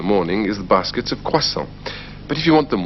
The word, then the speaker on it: croissants: When we are talking about more than one of something, we generally add an S. But the S isn't pronounced. So it's un croissant, 6 croissants.